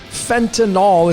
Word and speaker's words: fentanyl: And I'm also going to be using the word fentanyl. It's a 3-syllable word.